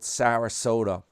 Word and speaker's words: Sarasota: We'll have to go with old Sarasota. Rhymes with Toyota.